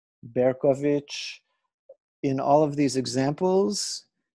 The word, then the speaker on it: Bercovici: it to be pronounced Berkoviki or Berkovici, something like that. That CI in Romanian, same as in Italian, is their way of representing the CH sound.